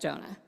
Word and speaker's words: Jonah: that prophet's name was it rhymes with Kona of Amai great job if you get Jonah 10 points for Gryffindor